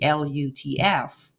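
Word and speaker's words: لطف: if you would try to pronounce that as a word, it would sound something like Lutf, which is a common word in 5 languages of Turkish, Kurdish, Arabic, Farsi, and Dari, meaning kindness.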